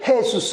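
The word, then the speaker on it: Jesús: 사들이 돼 많이 있습니다 발음은 어떻게 하면 헤수스 라고 자해 수 그래서 그 스페인의 뭔가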